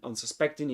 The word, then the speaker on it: unsuspecting: So the primary accent in unsuspecting is this one, unsuspecting, unsuspecting, and the secondary accent is un.